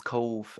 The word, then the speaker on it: Cobh: Now, the name changed to Cove, Cobh, pronounced as Cove.